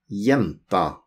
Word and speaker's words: jenta: Jenta, jenta with G-J, G-J, but we pronounce it jenta, jenta.